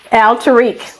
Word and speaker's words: Alteriq: So y'all, again, and correct me if I'm pronouncing your son's name wrong. Is it Alteriq? Alteriq.